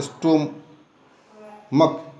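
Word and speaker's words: stomach: है, क्योंकि वहाँ पर सी एच जैसे कहते हैं स्टोमक, सी एच है, के को हम सी एच is pronounce as के, then to make plural स्टोमक, monarch, च को हम क पढ़ते हैं।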